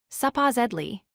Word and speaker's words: supposedly: Word 11 is supposedly. It has 4 syllables, supposedly. The stress is on the second syllable.